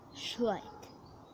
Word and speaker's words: Schleich: You pronounce that Schleich.